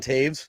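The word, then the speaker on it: Toews: And he's coming under fire from guys like, say, Devon Taves. I did say his name right. I didn't call him Devin.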